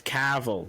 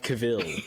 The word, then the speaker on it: Cavill: just call him cavil caval oh it's isn't it it's it's Cav every I have never it's not it's it's it's caval it's not Caville okay what I was goingon